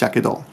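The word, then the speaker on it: 火傷: you put these together, it will now be pronounced yakedo. It's kind of a forced pronunciation, but everyone kind of agreed on it.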